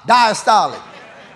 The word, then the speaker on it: diastolic: that opening is diastolic how y'all say diastolic like Apostolic diastolic got to put it in spiritual terms all right so how we say the first one systolic the second one Apostolic diastolic so when it beats